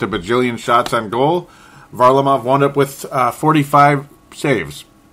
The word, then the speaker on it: Varlamov: Varlamov, as I'm finally saying it correctly, even though I've obviously been watching the games, but the pronunciation, I've heard it back and forth. It's Varlamov.